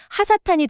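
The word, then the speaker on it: הַשָּׂטָן: 즉 원문 발음 그대로 읽으면 그냥 사탄이 아니라 정관사가 결업된 하사탄이 되는 겁니다.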